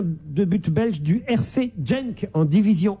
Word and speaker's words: Genk: Yann Moens, gardien de but belge du RC Genk en Division 1, un club que vous soutenez. Gent, c'est Gand, j'imagine. Ah, vous croyez? Bah oui, c'est Gand. Oui. G-E-N-K.